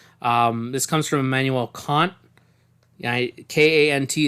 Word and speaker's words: Kant: K-A-N-T is pronounced Kant. It's also sometimes known as Kantian Kantian ethics.